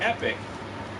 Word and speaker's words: Epoch: found out recently that there is a dispute within that organization how to pronounce their name it's epoch it's spelled epoch and whenever i say epoch again people go no it's epic and then when i say epic people go it's epoch look epoch is a word